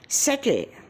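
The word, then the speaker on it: subtle: है अब देखो साथियों बी साइलेंट के एग्जांपल है डेट सेटल डाउट यह तीनों शब्दों में बी आ रहा है परंतु उसका उच्चार हम नहीं कर रहे इसीलिए तो हम कहते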